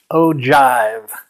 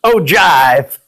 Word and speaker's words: ogive: close it's actually pronounced ogive it sounds like like a 70s version of oh snap it's ogive jive-talking no actually the